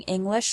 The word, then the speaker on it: English: a tip for speaking English like a native. You probably already know that individual English words have stress. For example, the word English has the stress on the first syllable, ing.